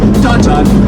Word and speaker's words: downtown: And downtown transforms into Dun-Dun.